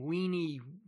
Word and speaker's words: Veni: The Britons, however, who of course still use the old pronunciation, understanding him to have called them weenie, weedy, and weaky, lost heart and gave up the struggle.